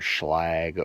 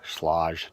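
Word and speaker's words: Schlage: see on houses are either schlagg or sloshed depending on who you are and how you pronounce it or quick-set I have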